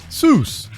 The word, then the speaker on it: Seuss: here's a fun fact soos is supposed to rhyme with voice not goose the doctor never minded that people mispronounced it a creative kid dr